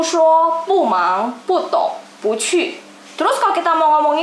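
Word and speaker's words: 不错: Pu pada saat bertemu nada 4 berarti dia akan berubah menjadi nada 2. Jadi kosakata ini dia akan dibaca pu cu, tapi dia akan berubah jadi nada 2. Jadinya dibacanya pu cu.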